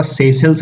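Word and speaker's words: Seychelles: तो मडागास्कर के ऊपर चलेंगे तो ये एक कंट्री दिख रहा होगा, सेशल्स बोलते हैं इसे, सेशल्स। स्पेलिंग कुछ और लिखा हुआ है और इससे प्रोनाउंस सेशल्स करते हैं।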